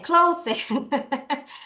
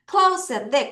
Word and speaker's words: close: 이상하게 SE로 끝나면 원래 얘가 close. close인데 그게 아니라 발음을 어떻게 하느냐? z 발음이에요.